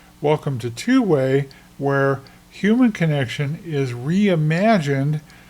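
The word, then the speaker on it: 2wai: It's pronounced twoway.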